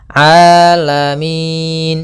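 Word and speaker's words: العالمين: Hati-hati jangan sampai merubah huruf ainnya menjadi hamzah. Banyak yang terjadi kesalahan dalam pelafalannya yaitu mengganti dengan alif atau hamzah. Maka dibaca rabbil alamin harusnya rabil a rabbil alamin alamin ya rabbil alamin.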